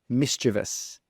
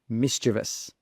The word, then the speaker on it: mischievous: not correct number three is the correct pronunciation mischievous mischievous moving on to question